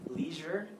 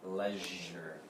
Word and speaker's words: leisure: So in America, some people say this as leisure, E-E-E, but some people can pronounce it as le, with this sound, eh. So this would be leisure, leisure. Okay?